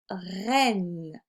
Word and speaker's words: reine: Alors, le premier mot que je t'avais demandé, c'était le mot reine. Donc ici, pour le mot reine, je dois utiliser les lettres E et I pour faire le son est.